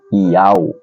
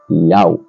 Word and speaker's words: Yahweh: 4 letras, 4 consoantes, YHWH, pronunciado por Yahweh. É o nome do Pai? Não é Deus. É pronunciado por Yahweh.